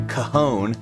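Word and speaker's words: cajón: chair you know again can you pronounce the name of this yeah kahone kahon we call it a kahon yeah yeah exactly yeah c a j o n right you know probably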